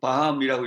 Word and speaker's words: BAM: 있는 것 전 사실은 이 dam 이라는 단어를 우리가 못 밤이라고 읽어 들고 뱀이 라 들고 되고 뭐라도 좋습니다 그런데 사실은 이것을 어떻게